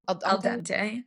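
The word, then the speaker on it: al dente: Is it El Dante? What's it called? Alante.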